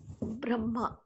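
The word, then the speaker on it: ब्रह्म: The makara should be pronounced first, and hakara must be pronounced later, even though hakara is at the beginning.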